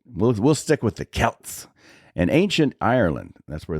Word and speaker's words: Celts: like that in Celtic runes so but it's pronounced sin and it was a pagan Festival that was celebrated by the Kelts or the Celts if you're from Boston uh Celtics uh the